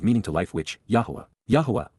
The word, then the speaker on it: Yahowah: Yahowah, the proper pronunciation of the name of Eloah.